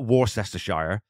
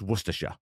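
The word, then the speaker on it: Worcestershire: first gunsling aarin maybe because I really like werer sauce and yes that's how you say it it's not war cester Shire or even werer or worshire it's werer there you go well I you know at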